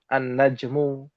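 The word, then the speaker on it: النجم: Kalau orang awam bilang kalau alif lam syamsiyah enggak dibaca al-nya, tapi yang dibaca adalah ee huruf pertama pada kosakata tersebut ditasydidkan. Annajmu.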